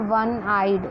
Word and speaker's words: one-eyed: A lecture, a one-eyed, it is O but the pronunciation is W, the sound is W.